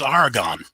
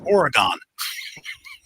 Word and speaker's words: Oregon: in oregon i hope i say that i'd butcher the state the name of oregon my wife says argon i said it's not argon argon is a is a mineral it's oregon but he's got some really nice content on